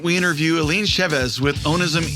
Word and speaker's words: Onism E: Onism.